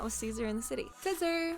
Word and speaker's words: Caesar: Caesar! (Pronounced like scissor) I hardly know her.